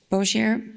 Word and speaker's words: Bossier: Bozier. Okay. Oh yeah. Oh yeah. If you have your lanyards on, let's go ahead and take them off. Bozier Parish School Board. Did I pronounce that right?